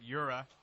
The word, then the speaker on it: URA: I hope I pronounced it right. Yura.